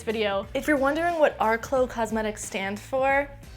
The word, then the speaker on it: RCLÓ: them in this video if you're wondering what Arklow Cosmetics stand for it's not our CL cosmetics it's our CLO which is pronounced Arklow because that's how I decided it's gonna be